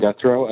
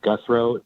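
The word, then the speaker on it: Guthreau: My name is Guthrow. I serve as the Deputy Director of the Nevada Association of Counties, or NACO. My name is spelled V like Victor, I-N-S-O-N. Last name is Guthrow, G-U-T-H-R-E-A-U.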